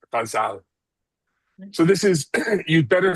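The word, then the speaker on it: ghazal: South Asia um as guzzle but the Persian I learned it from the Persian pronunciation it's called in and in Persian it's pronounced gazal.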